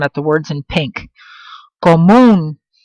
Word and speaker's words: común: It ends in an N, so I know it has to follow rule number one, but it's pronounced with the stress on the end of the word, so therefore it requires an accent.